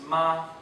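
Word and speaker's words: 马: on the other hand if you pronounce ma with a parabolic curve in The Vow sound so that your voice starts high and dips down before returning to the starting pitch it means horse there are few sentences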